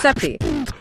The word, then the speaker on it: Sappe: The active center is created by David Sappe. Pronounced Seppi. Pronounced Seppi.